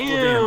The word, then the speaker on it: plebeian: doesn't really matter, because if it was plebeian or plebeian, if the accent's on the second syllable, it just turns into a schwa anyways.